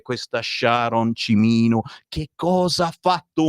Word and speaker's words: Sharon: Allora, tu preferisci essere chiamata Sharon o Sharon? No, Sharon. Sharon.